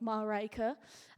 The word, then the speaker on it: Marijke: tell them I you you sort of pronounce it like Marica and it escalated to